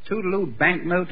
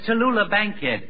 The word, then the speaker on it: Tallulah Bankhead: what did you say her name was the toodaloo Bank milk no no no no it's Tallulah Bankhead Miss Tallulah Bankhead I don't overdo it yet